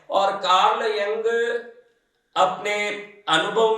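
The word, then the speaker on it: Carl Jung: इसको देखना तो बहुत लंबी बात है आप कर्ल यंग नाम का सी ए आर एल कर्ल वाई यू एन जी कर्ल यंग कर्ल जंग और गाव देश के हिसाब से लोग उस व्यक्ति के नाम का प्रोनाउंस उच्चारण करते हैं उस व्यक्ति के कुछ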